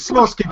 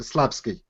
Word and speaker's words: Slawski: always screw it up it's Sosi but I like to to annoy him by by pronouncing it slaby I I like to